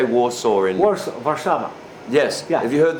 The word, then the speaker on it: Warszawa: I don't know how you pronounce it. How do you say Warsaw in? Warsaw, Warszawa.